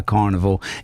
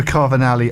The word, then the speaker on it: Carnivali: Well, if you want more details, search for Carvini online, Facebook. I love how you misinterpret my mispronounced my name. Carnival. Carnival. Yes. Very Italian. It is Italian.